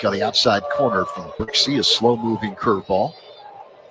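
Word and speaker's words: Brzykcy: the outside corner from brickie a slow moving curveball brickie spells his name BR zy kcy thank goodness for the pronunciation guy that pitch is low and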